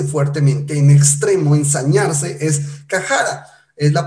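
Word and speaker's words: חרה: Ahora, cuando lo investigamos un poco, la expresión enojarse o airarse fuertemente, en extremo, ensañarse, es cajara. Es la pronunciación en hebreo, usted lo encontrará ahí en el diccionario, en el Strong, ¿sí?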